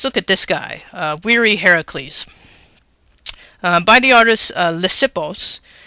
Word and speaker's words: Heracles: may know him as hercules um hercules is not the correct pronunciation he's a greek god so he's related to hera so he's heracles and yes that is